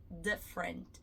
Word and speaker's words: different: Olha a boca como muda. Quando eu falo different e different, tem diferença. Tá vendo? Abre os lábios quando eu falar different. Different, como se fosse sorrir, né? E não different. O som do d normalmente a maioria vai ser d D d. A gente vai falar com a ponta da língua no céu da boca, ao invés de falar de com o lábio em forma de o de.